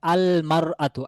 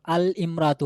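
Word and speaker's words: المرأة: মহিলাটি একজন নির্দিষ্ট মহিলা তাহলে বলতে হবে আলমারতু আল ইমরাতু হবে না এখানে একটু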